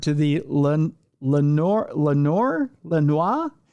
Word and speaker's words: Lenoir: Lenor Lenoir. It should be Lenoir. That That's the French pronunciation, but it's probably Lenoir uh County Jail.